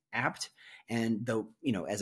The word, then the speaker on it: Abt: is and it's it's it's spelled ABT it's pronounced apt and the you know as a as a Chicago resident I have I've always said ABT in my head it just but it's apt okay it's apt anyway